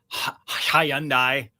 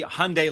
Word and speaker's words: Hyundai: Uh, Hayundai, right? It's It's supposed to be Hyundai like Sunday.